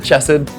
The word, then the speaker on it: Chesed: I pronounce it Chesed. It's a Hebrew word and my Hebrew's terrible.